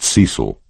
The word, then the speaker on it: Ceil: Melanie Rose taught Bible school and had twin daughters by someone called Ceil, pronounced Cecil, who 3 months ago had taken a return ticket to Eluther, and thus far had not used the second half.